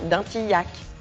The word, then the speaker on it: Dintilhac: à jean dintilhac lui donne son nom prononcé bien dintilhac comme dans yacco en 1920 la société